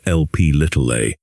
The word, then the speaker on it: Lp(a): Another lethal genetically determined variant of apoB is lipoprotein A, pronounced LP(a).